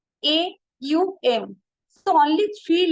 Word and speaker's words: Aum: but vast in meaning only two letter O M actual pronunciation is a u m so only three letter